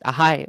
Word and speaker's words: Ahai: It's just Ahai. One. It's Hi. one syllable, right?